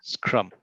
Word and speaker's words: scrum: scruff right screw must how do you pronounce that scrum that's how i've learned yeah okay scrum project